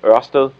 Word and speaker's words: Ørsted: Everything else they have, not everything else, but a very big part of what you are looking at, Ørsted, as it's pronounced, so don't worry, is really on their renewable energy side.